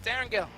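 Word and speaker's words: Erangel: that's what it is it's Aaron Gill it is 100 that is the full pronunciation because of the creator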